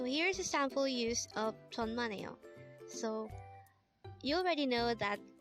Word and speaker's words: 천만에요: at De hangle word number 50 the word tonmano is a way to say you're welcome in